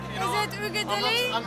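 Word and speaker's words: Uigeadail: Ugadili. I believe so. It's in Gaelic, you know. Is it Ugadili?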